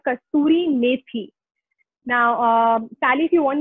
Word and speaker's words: kasturi methi: So this one in Hindi is called kasturi methi. Now, Sally, if you want me to spell it, you can write it.